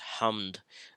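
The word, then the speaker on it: حمد: And then Ha Mim Dal, this combination of letters, which is pronounced as hamd, means praise.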